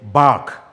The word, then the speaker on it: bark: at these two words sometimes we mistakenly pronounce them same we say please stand at the back he is barking there is supposed to be a distinct difference so that when we're